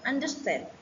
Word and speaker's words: understand: And the second, in compound verbs, the stress use is usually on the second syllable. For example, understand.